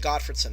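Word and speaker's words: Gottfredson: was promoted mainly by Hershey and godfredson that's how their names are pronounced states that it's poor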